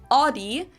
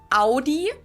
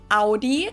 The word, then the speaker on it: Audi: Most Americans that I know pronounce it like I just said it, Audi. In German, we say Audi. Audi.